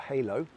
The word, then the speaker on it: Halow: So my chosen charity is called The Halo Project, or Halo, and it's spelled H-A-L-O-W, and they are the initials of the founders' children's, so we're all parents of young people with learning disabilities.